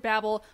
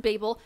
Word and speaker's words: Babel: so excited also yes i know you can pronounce it babble but that's stupid it's pronounced babel and i will not be taking questions okay